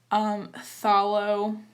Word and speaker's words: Phthalo: And I'm using, I don't know if I'm saying this right, Phthalo Blue. I'm assuming that the pH is silent.